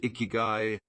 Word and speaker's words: ikigai: people of Okinawa pursue their iigi pronounced iigi which translates to reason